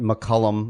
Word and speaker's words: McCullum: James hello am I saying your name right McCullum I'm always afraid I say it wrong no